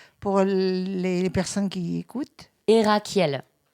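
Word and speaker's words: Herackiel: prononce Erakiel pour les personnes qui écoutent. Erakiel.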